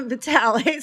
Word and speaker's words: Vitale: Johnson, and Engel versus, I can't ever know Vitali? Vitali or Vitale. Vitali? Yeah, Vitale. Sorry, I don't want to pronounce that incorrectly, but yeah.